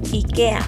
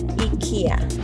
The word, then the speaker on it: IKEA: No es IKEA, lo correcto es decir IKEA.